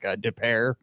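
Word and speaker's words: Des Peres: not from St Louis you don't know that it's like deair and it's spelled d p r if you're not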